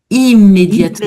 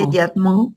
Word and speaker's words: immédiatement: Tu vois ici la nasale tombe aussi parce que j'ai une voyelle après les deuxè donc c'est plus le mais le I immédiatement immédiatement à notre disposition pour les déjeuner.